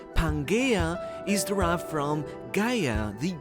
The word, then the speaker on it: Pangaea: Even the term Pangaea, or as it is more correctly pronounced, "pan-gaia", is derived from "Gaea",